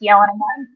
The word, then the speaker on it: Jelen: My friend Dennis, I think his last name's pronounced Yellen. It's so you can find him on Twitter. I think it's a JELEN Writes.